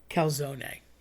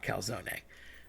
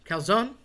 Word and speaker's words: calzone: Calzone. Love talking about calzone. So, everybody wants to say calzone. I get it. You're lazy. You don't want to say the e on the end.